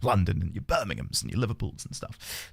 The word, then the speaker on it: Birmingham: Not Birmingham. It's Birmingham.